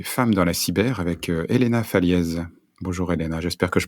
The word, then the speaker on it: Elena Faliez: allons parler des femmes dans la cyber avec Elena fallz bonjour Elena j'espère que je prononce bien ton nom bonjour oui oui tout